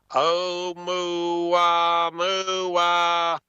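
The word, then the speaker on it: ʻOumuamua: And I'm not even talking about that big rock-looking thing, that Oumuamua or whatever they call that. Yeah, I got it right here. How you pronounce that, man? Oumuamua.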